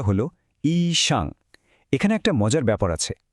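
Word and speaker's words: 医生: খোঁজ করি ডাক্তার ঠিক ডাক্তারকে ম্যান্ডারিনে বলে ইশাং উচ্চারণটা হলো ইশাং এখানে একটা মজার ব্যাপার আছে খেয়াল করেছেন হাসপাতালের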